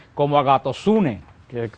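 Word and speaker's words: ἀγαθωσύνη: Y la bondad, que son tres frutos que están muy relacionados, entramos, la palabra bondad, la Biblia se pronuncia como agatosune, que se pronuncia en griego la palabra bondad.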